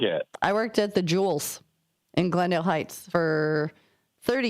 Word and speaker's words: Jewel: When it was right next to our baseball fields, but don't ever ever pronounce Jewel with a S.